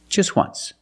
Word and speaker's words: just once: w oo once so phonetically the t is between consonants so it's silent link to sounds just once there's no t just once example they saw the